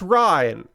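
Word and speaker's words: Ryne: Pronounced Ryan. Okay. Pronounced Ryan. Okay. Ryan, but R Y NE, but like R Y an Ryan.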